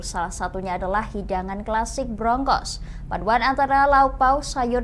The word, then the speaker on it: brongkos: Namun, di lidah orang Jawa pengucapannya berubah menjadi brongkos.